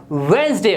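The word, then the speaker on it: Wednesday: और यह ने समारोह वेडनेसडे वेडनेसडे तो बहुत ही बोलते हैं बुधवार को एडमिट से बोलते हैं जबकि वेडनेसडे नहीं होता इसमें डिप साइलेंट होता है अब यह बोला जाता है वंस ए वेनसडे और आपकी राखी कोई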